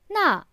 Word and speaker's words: 那: 那 the fourth tone does not have the ko radical next to it. It is pronounced with the fourth tone and is used to specify a statement about a certain object or individual.